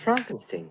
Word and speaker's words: Frankenstein: Frankenstein. Frankenstein. You're putting me on. No, it's pronounced Frankenstein.